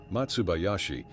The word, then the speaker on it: Matsubayashi: Matsubayashi is the Okinawan pronunciation of the characters for pine forest.